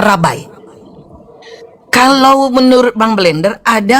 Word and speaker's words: Rabbi: Rabbi tulisannya, bacanya rabai.